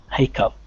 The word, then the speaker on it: hiccup: In the traditional spelling that you see there, it is pronounced like a P, but it doesn't have one. Okay, through enough, and through.